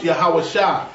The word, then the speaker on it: Yahushua: But translated from Greek into the English, it's read Yahshua, but it's pronounced Yahushua.